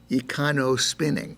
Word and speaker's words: EcoSpinning: was a mistake because it's easy to stumble on that N-O. Best pronounced as EcoSpinning, and not so sort of trippingly on the tongue, but I guess it's difficult to master.